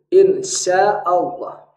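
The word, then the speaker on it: إن شاء الله: Contoh dalam kata insya Allah. Insya Allah. Maka di dalam pengucapan insya Allah, nah maka yang lebih penting sebenarnya adalah bagaimana kita mengucapkannya, bukan bagaimana kita mentransliterasinya.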